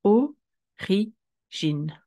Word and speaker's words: origine: R-I ensemble. G-I ensemble. N-E. Et on va le prononcer de cette manière. Origine.